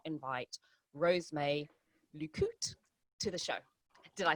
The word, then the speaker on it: Rose May Lucotte: me to do this show and not invite Rosemay Lucotte to the show.